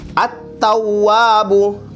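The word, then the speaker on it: التواب: At-tawwabu. Artinya itu idgham syamsiah, masuk ke huruf syamsiahnya. Huruf syamsiahnya itu ta. Asa. At-tawwabu. Jadi alif sama lamnya tidak dibaca lagi.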